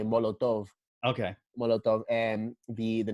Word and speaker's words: Molotov: cocktail yeah yeah but they pronounce it in a Spanish way Molotov okay monotone and be